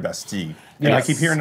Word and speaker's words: Bastille: Because it's a French word, Bastille.